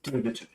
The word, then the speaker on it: Demeter: I wasn't sure if it was Demeter, but yeah, when you watch the movie, they pronounce it as Demeter.